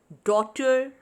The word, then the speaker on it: daughter: Next is neighbor, daughter, fight, straight. So what is silent here? Here the letter G, H are silent. We are just pronouncing N-E-I and B-O-U are neighbor. D-A-U and T-E-R.